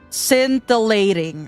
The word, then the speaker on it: scintillating: Scintillating.